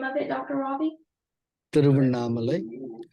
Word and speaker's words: Tiruvannamalai: Tiruvannamalai. It's spelled as TIRU as in Victor A NNAMALAI. Okay, through Mamale. Tiruvannamalai.